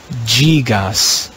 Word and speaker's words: gigas: ggas in classical latin we would say gigas in church latin we read gigas the fifth change in